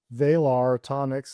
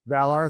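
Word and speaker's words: Valar Atomics: Isaiah Taylor is a founder of Vearonics. I could be mispronouncing it. there. I think they call it Valor Atomics. Valor. Thank you.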